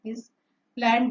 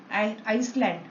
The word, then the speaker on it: island: Never pronounce it Iceland. Is land. No. S is silent there.